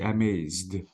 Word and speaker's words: amazed: the simple past please the e sound should not be pronounced you have to say amazed okay so okay exactly it